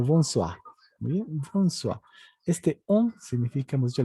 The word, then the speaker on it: bonsoir: Muy bien, bonsoir. Hemos dicho que la OI se vuelve UA. Bonsoir. Muy bien. La R se pronuncia muy suavito.